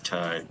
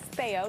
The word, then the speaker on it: Teo: and really new ways to sort of develop this affordable homeownership model. Okay, and I apologize, I got your name wrong. It's Theo, not T.O.